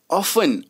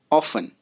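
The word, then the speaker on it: often: ऑफन, ओ एफ टी एन, दोस्तों यहाँ पे टी जो है वो छिपा हुआ है. ऑफन, ओ एफ टी एन, T silent है.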